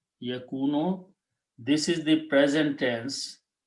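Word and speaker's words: يكون: When we put a ya in the beginning and pronounce yakunu, this is the present tense, and it is or he is.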